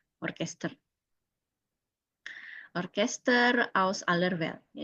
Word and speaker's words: Orchester: Ini sama ya bacanya orkester.